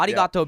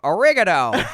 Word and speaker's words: arigato: So arigato became oregano. Like, oh, hey, you guys are in this. Thanks so much. What is it? It's oregano. Yeah.